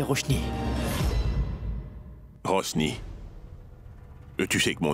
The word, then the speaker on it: Roshni: Elle ne s'appelle pas Rosny. Roshni, ça ne va pas bien dans votre tête.